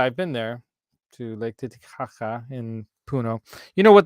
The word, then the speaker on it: Titicaca: So, have y'all swam in Titicaca? I did actually float on Lake Titicaca. Actually, the way they properly pronounce that is Lake Titicaca.